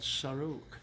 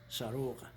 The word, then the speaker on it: Sarouk: that province is called saruk s-a-r-o-u-k some people like to smell it s-a-r-o-u-g-h sarora so this is more of the American version of pronouncing it by bringing the Kerala GH at the end this is withinda there's